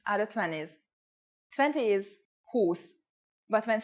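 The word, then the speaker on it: húsz: For example, 20 is who with a long u but 21 is with the u pronounced short.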